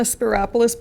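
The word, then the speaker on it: Spyropoulos: get on it but it rhymes with Metropolis if you're wondering how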